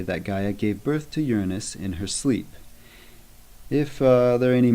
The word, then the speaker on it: Uranus: Uranus, referenced as heaven in the translation we're working with today, should not be confused with the mispronunciation Uranus.